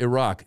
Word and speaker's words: Iraq: All right, I'm out here just to tell you, it's not pronounced yeah. Iraq. Yeah. It's not. It's Iraq.